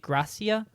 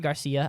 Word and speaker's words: Gracia: then brings in AJ Gracia. That is definitely not Garcia. I double-checked it. It's not a typo. It's Gracia, I think. That's how it's pronounced.